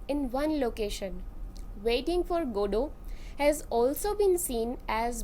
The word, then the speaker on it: Godot: pronunciation of this name some opt for stressing the first syllable god while emphasizes the names linked to god and while others choose to stress the second good o this play incorporates many